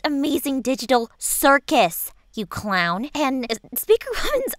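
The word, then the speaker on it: The Amazing Digital Circus: bro, like, I don't have anything against the amazing digital circuits or whatever it's called, but, like, you could do so much better, man. Like, I hear Speaker Woman's looking. It's actually pronounced Amazing Digital Circus, you clown.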